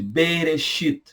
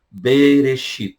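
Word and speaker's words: בראשית: Mas eles chamam esse livro de Bereshit. Gênesis, português. Hebraico, Bereshit.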